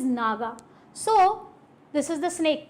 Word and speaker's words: Naja: and this is Naga actually it is Naja but the actual pronunciation is Naga so this is the